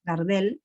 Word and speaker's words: Gardel: El director de entonces, Pierre Gardel, Gardel como el cantante de tango, Gardel, así se escribe, fue como, bueno, el director que cambió muchas cosas para acoplar la ópera de París a la revolución.